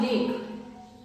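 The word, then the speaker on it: lake: अब लेक, लेक, ल के लिए एल, मात्रा के लिए ए, क के लिए के और लास्ट में साइलेंट ई, लेक।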